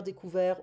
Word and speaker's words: découvert: We don't pronounce the T, hein? Ouvert, découvert, offert.